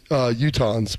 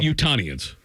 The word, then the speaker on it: Utahns: They're called Utahns, by the way. Not Utahnians. They used to, but most found it too hard to pronounce and spell.